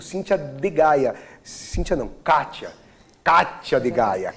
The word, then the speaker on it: Cathia d Gaya: Cíntia não, Kátia de Gaia. Kátia, C-A-T-H-I-A, o D mudo, Gaia com Y.